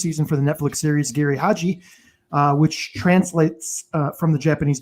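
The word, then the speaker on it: Giri/Haji: Geri Haji, Ron Lippett, take it away. Geri Haji is how it's pronounced.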